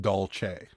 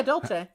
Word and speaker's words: Dolce: uh an Italian uh is pronounced Dolce yeah yeah Dolce like dolce de leche have you guys had